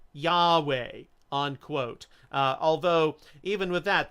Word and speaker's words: Yahweh: theodoret following these hints modern scholars believe that the approximate pronunciation was Yahweh unquote although even with